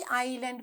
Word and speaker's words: island: Island කියනකොට පුතේ මේ S අකුර silent letter එකක්. අපි Island කියලා කියන්නේ island කියලා කියන්නේ I අකුර අපිට ඇහෙනවා. හැබැයි S අකුර silent letter එකක්. So ISLAND is island.